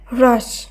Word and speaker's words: হ্রাস: যে তালবস্য ব্যবহার করব এইভাবে যদি উচ্চারণ করা হয় তাহলে এর উচ্চারণ হয় হ্রাস, হ্রাস। হ্রাস নয় বা হ্রাস নয়, র আর হয়ের মধ্যবর্তী দুটি বর্ণ একসঙ্গে উচ্চারণ করলে যেমন হবে হ্রাস, শব্দটি শুদ্ধ উচ্চারণ তেমন হবে।